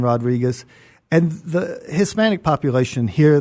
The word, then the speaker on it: Rodriguez: You don't have to roll R's, but there's a real difference in Rodriguez and Rodriguez.